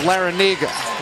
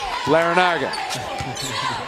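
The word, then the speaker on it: Larrañaga: pronounce it another way we'll stick with how coach L pronounces it it's Larranaga but he said his brother pronounces it Larranaga and his dad from the New York area pronounces it Lera Naga forget about at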